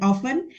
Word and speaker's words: often: method method and then often it it should be uh Silent Sound so we do not say often but T should be silent later on uh we